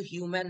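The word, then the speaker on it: humane: ঠিক আছে তারপর তারপর হচ্ছিল হিউম্যানে এটা কিন্তু হিউম্যান নয় হিউম্যানে কথার উচ্চারণ কি হিউম্যানে মানে সিম্প্যাথেটিক মানে দয়াশীল এর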